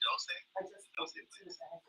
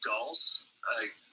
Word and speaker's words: dulse: Is it dose? Just dulse. I guess like with finesse dulse.